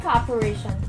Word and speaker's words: cooperation: on the second level and cooperation to distress on the fourth syllable we need each other's